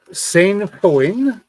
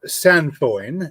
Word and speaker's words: sainfoin: It's called Sainfoin or Sanfoin, depending upon who is doing the pronunciation.